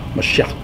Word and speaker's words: Mashiach: Mashiach, that's how you say it.